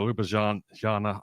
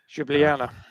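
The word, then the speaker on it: Ljubljana: So, Luba Janna, I can never pronounce that correctly. Jublana, that's that that's actually where our accommodation was at the end of this day.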